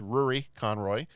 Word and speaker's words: Rúaidhrí Conroy: me on this, but I believe the name is pronounced Rúaidhrí Conroy, played TIto.